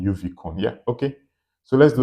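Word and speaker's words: uvicorn: Yeah, I think it was it was pretty uni I don't really know what the name was, but it's supposed to be UV uvon. Yeah. Not unicorn. Uvon.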